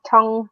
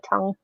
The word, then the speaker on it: tongue: we pronounce the word tongue because obviously we spell it like a crazy way but we hardly pronounce the G obviously that depends on